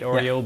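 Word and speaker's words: ORIO: Just say that just so people listen to it's pronounced like the cookie, right? Oreo, but with an I.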